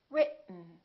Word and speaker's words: written: to each other written keep your tongue up don't release it let the air just come out through your nose for the n sound listen r it mmm written let's try another word